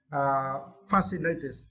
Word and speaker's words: fascinated: Fascinated. Yeah, fascinated. And for this word, you need to stress the first syllable fast.